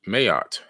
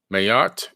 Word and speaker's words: Ma'at: So we're going to talk about the ancient god named Mayat, M-A-A-T. Mayat is actually the pronunciation.